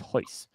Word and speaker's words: Royce: So, his name is spelled Royce, but it's pronounced hoist.